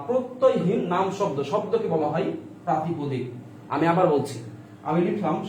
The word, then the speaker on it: প্রাতিপদিক: এটা উচ্চারণটা হচ্ছে প্রাতিপদিক, বানানটা লক্ষ্য রাখবেন। আমরা অনেক সময় বলি প্রতিপাদিক, প্রতিপদিক, প্রাতিপাদিক, অনেক সময় বলি না, ভুল বলি।